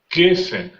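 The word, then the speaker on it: גפן: Et puis pour geffen, on met l'accent sur l'avant-dernière syllabe, c'est-à-dire la première, on dira geffen.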